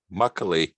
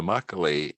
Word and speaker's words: makgeolli: is a drink and it's muckily sorry i get this pronounced straight the makgeolli and it's a slightly